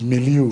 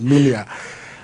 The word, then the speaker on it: milieu: Well, I think some of you use the word milieu. The proper pronunciation is milia.